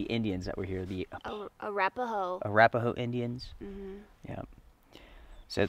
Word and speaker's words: Arapaho: So how do you pronounce the Indians that were here? The Arapaho.